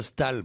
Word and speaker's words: Staël: Non, on ne prononce pas de Comme Staël. madame, comme Parce que madame. On dit Nicolas de Staël.